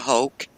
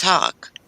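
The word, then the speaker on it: hoch: that's a german word it's not hulk it's hawk because that's a german word in german it means hi h-i-g-h i do remember some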